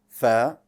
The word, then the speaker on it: ف: also has air so when you pronounce it allow a little bit of the air to come out f if you hold